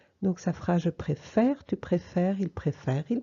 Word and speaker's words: préfère: Mais quand j'ai un E muet, j'ouvre cette voyelle. Donc, au lieu d'être et, elle va devenir est. Je change le sens de l'accent. D'accord? Je passe d'un et, d'un accent aigu à un accent grave pour passer du et au est.